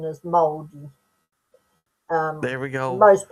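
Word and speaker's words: Maori: Or sorry, the corre the correct pronunciation is moldy. Um, there we go. Most people say Mary, but it's not.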